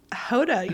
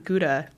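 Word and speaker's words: Gouda: that I was pronouncing guda incorrectly everyone does it's it's actually I learned that in my cheese class um it's how is how you say it in Dutch so very soft G yeah all right interesting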